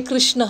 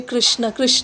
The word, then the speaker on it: Krishna: Don't say Krishna like most of us say Krishna. It's not Krishna, it's Krishna. Krishna, we write it as Krishna.